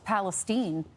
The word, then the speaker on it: Palestine: around the world huh he doesn't even pronounce it right it's Palestine the one here in America all around the world